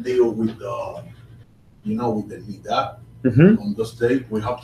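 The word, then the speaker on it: נִדָּה: Okay, so nidah is often called taharat mishpacha, family purity, and nidah is the term that is used. You'll also hear it pronounced nida for the monthly cycle for a woman.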